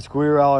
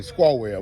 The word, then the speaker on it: Squirrell: Lee, we got to tell you his name, Squawwell. We got to say it right now because all his family members going to want to show we do it right. So Squawwell is his name, and Jalen's a big player.